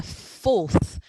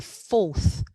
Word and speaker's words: fourth: And it's the fourth with that sound at the end. The fourth.